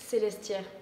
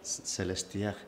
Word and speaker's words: Célestière: kuin näkyy, tässä on La Célestière, how you pronounce it? Célestière. Célestière, suunnilleen näin.